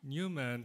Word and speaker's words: Neumann: Nicole Neumann, you pronounce it like a German? Newman.